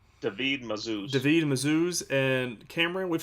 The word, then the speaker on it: Mazouz: David Mazouz.